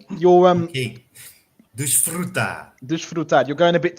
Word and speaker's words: desfrutar: And then at the end, dar, we have a standard T sound with a kind Okay. of pressed A, accented A, and again a rolled R. Desfrutar.